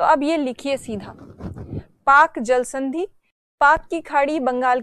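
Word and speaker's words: Palk: में लिखा हुआ है पी एल के एग साइलेंट तो इसीलिए उसको वैसे पार्क बोला जाना चाहिए अगर पालिका तो वह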